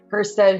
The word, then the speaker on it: Hustead: here today with my really good friend Kristen HST said who if I say it right that's Houston hou damn it that's all right that's right